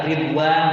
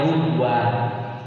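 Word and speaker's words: رضوان: Kalau bacaan Sy'ba misalnya ridwan dibacanya rudwan, kemudian apa itu?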